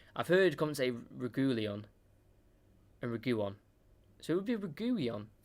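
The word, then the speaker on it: Reguilón: What do I say? Reguilon. That's how you say it, Reguilon.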